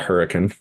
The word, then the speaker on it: Hurricane: I mean, Hurricane Utah, I know we pronounce it hurricane here, but Red Angus Ranch down there, farm he grew up on, was talking about farming there his whole life.